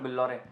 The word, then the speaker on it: बिल्लौरे: फिर मैंने नाम रखा था मिस्टर बिल्लौरे, मेरा सरनेम है प्रफुल्ल बिल्लौरे। तो बिल्लौरे का स्पेलिंग BILLORE है, बिलियनर के साउंड करता है, तो लोग बिलियनर चाय वाला बोलते थे, बिल्लौर रानी चाय वाला बोलते थे।